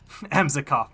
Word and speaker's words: Emzikov: I'm not sure if Meskov Well, you may not intend to be rude, but you mispronouncing his name definitely implies that. Emzikov, my guy. Emzikov, like our very own Ems.